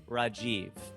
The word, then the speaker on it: Rajiv: hard for us because Hindi is so non-accentuated, right? There's not emphasis on syllables like here. Like here you say Rajiv or you say Rajiv if you want to use the J. But there it's Rajiv. It's just flat. Like it's not Rajiv.